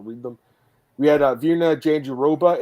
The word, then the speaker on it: Jandiroba: You know, I also asked Okamura as her manager, and he said the same thing. It's like it's Jandiroba. So he's like, easy to pronounce.